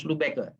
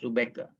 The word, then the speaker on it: Lubecker: Baik, sekarang coba ambil dari Arendt Lubecker ya, coba. Arendt Lubecker. Ini bacanya bukan Lubeck ya, Lubecker ya, karena itu nama ini kalau saya ya, nama yang biasa di dalam bahasa Jerman ya.